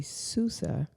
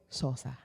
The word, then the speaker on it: Sousa: to say it for the people so American pronunciation would be Susa but Portugues portuges what will always say SAA SAA like Sammy SAA but not Sammy SAA